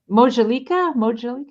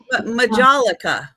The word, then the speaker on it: majolica: Mojalika? Is that how you say it? Majolica.